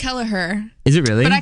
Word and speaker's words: Kelliher: And Miss Lily Kelliher. Whoa. Oh, no, I totally did just make up those names. Yeah. It's Lily Bump and Kelliher. It's Kelliher.